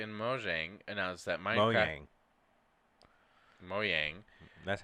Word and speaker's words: Mojang: Today, Microsoft and Mojang announced that Minecraft Mojang That's how they say it.